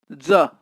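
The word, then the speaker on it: gens: is also pronounced as ja or g-e-n-s is pronounced as ja means people gu double g double g is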